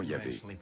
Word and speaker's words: Yahvé: Dans l'un des récits, Abraham appelle Dieu par son nom propre, qu'on prononce traditionnellement Yahvé.